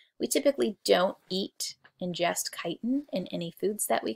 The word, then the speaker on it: chitin: they're so difficult to digest chitin it's spelled chitin but it's pronounced chitin is a building material that arthropods use in